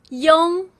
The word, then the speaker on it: yong: This is yong. Yong. It's the same as iong, but when iong stands alone, the spelling is yong.